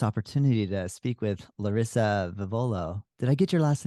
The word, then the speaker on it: Vivolo: Oh, I'm so excited to have this opportunity to speak with Larisa Vivolo. Did I get your last name pronunciation proper? Yeah, everyone's everyone pronounces it differently. Vivolo, Vivolo. Vivolo, that's what it is.